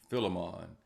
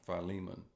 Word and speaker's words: Philemon: Some say Philemon, but it's pronounced Philemon.